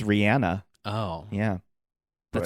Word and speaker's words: Rihanna: wakanda forever from Rihanna Rihanna we say her name wrong we do we do the right the world does oh shoot it's Rihanna oh yeah that sounds